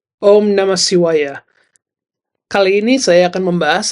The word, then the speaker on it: Śiva: Jadi cara membaca C atau baik S yang ini adalah SH. Jadi sh, bukan se. Jadi cara membacanya dengan baik adalah Shiva. Bukan Siwa, tetapi Shiva dengan H.